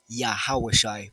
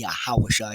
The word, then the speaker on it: YaHaWaH: Yesha, and so on, his true name, phonetically pronouncing it correctly and not calling him by titles such as Lord or Christ, is YaHaWaH. Phonetically pronouncing it correctly, sounding it out righteously is YaHaWaH.